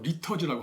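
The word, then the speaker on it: liturgy: 예배 의식, 예배 형식은 영어로 리터지라고 합니다. 리터지. 영국 사람들은 리터지, 미국 사람들은 리터지라고 하죠.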